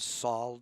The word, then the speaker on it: solder: the board we solder some people pronounce the L and salt solder solder some people don't I don't I don't know why you just don't so you see the